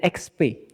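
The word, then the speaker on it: ΧΡ: Bacanya bukan PX, bacanya XP. Balik. Jadi itu X sama P, bukan P sama X. Tapi X dulu baru P.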